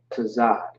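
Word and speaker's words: צד: Now, tazah, tazad, tazad. That's how you pronounce that.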